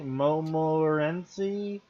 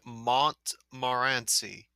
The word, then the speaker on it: Montmorency: that's not spelled right it's supposed to be like Mont Mar ANSI like way it's spelled he's misspelling it to